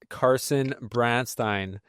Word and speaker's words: Carson Branstine: All right, we are joined by a very special guest, Carson Branstein. Am I pronouncing that right, Carson?